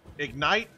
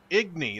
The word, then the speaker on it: Igni: to do it uh that's the ignite I think it's how it's pronounced spell uh it's uh actually it's called a sign in igny that's what it is igny and uh you